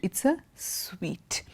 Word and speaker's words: suite: It's a suite.